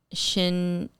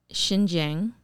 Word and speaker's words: Xinjiang: They shot a part of it in, I'm going to maybe have a hard time pronouncing it, but Xinjiang, China.